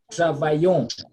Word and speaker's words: travaillons: Nous travaillons. Double L, I, when you have got letter I before double L, the sound is Y. So we say travaillons.